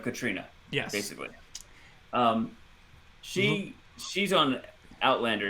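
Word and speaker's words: Caitríona: So Katrina Balfe, I think it's the Irish version of Katrina.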